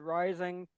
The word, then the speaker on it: Rising: Okay, and uh last but not least, uh my name is Rising.